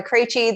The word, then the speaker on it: Krejci: so who i am my name is krejci that is how you pronounce all of those consonants together really close i am a business